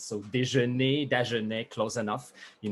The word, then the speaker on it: Dagenais: my name is dagne i'm a french canadian composer music educator conductor and my last name de it's like breakfast in french but with two letters of difference so dejanee de journee close enough